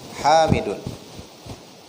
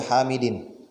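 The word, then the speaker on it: حَامِدٌ: Jangan dibaca Hamidin. Apalagi Hamidan. Ya.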